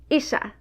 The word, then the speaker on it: ixa: Isha.